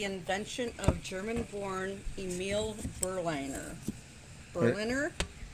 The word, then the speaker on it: Berliner: of german-born emile burlinger berliner spelled like berlin but with an er on there and he unveiled